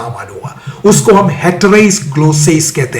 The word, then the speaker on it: ग्लोसा: इसको ही तो कहते हैं ग्लोसा। ग्लोसेस तुम बोल रहे हो, ग्लोसा मैं बोल रहा हूं, और आपको विकिपीडिया पे